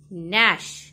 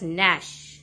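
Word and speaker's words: gnash: words the first word nash g is silent students we pronounce it as nash second growling third terrible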